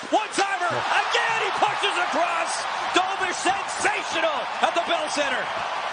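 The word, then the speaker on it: Dobeš: Can you pronounce his name again? Because it was so good. Dobish. Dobish.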